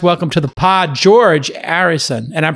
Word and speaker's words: Arison: the big prize welcome to the pod george harrison and i'm pronouncing correct it's harry son a-r-i-s-o-n correct that's correct and thanks for having